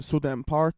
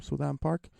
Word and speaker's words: So-dam Park: I think it's So-Dam Park when you pronounce it, when it's in English, because I think in South Korea, and same with Japan, you say last names first, then the first name.